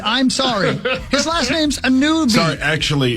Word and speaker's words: Anunoby: OG Anunoby. Yeah. He makes $36 million. It's spelled OG. I'm sorry. His last name's Anunoby. Sorry, actually, it's Drew. Anunoby?